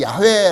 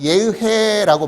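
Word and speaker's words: 야훼: 여호와 아 다른말 우리 야외 라고 하기도 하는데 원래 이 이름의 발음이 어떻게 되냐면 예외 해라고 발음이 된답니다 근데 그 단어가 사실은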